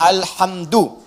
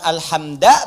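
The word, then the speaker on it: الحمدُ: Dibacaannya alhamdu, bukan alhamda pakai fathah atau alhamdi pakai kasrah. Ya, apa bacanya? Du, alhamdu pakai dhammah. Jadi kalau dibaca dalam salat, jangan baca menggunakan fathah alhamda atau kasrah alhamdi, tidak. Baca menggunakan dhammah, alhamdulillah.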